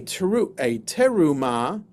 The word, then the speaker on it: terumah: A terumah, or with the accent, the right syllable, a terumah is a gift that is given to God.